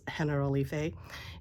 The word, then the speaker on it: Generalife: It's spelled General Life, but it's pronounced Generalife, and it's beautiful gardens.